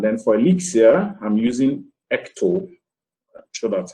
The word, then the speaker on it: Ecto: in elixir and then for elixir i'm using ecto that's how it's pronounced for my databases and everything and then